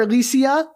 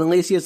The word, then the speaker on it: Elysia: And that's spelled Elysia, just to be, extra fun.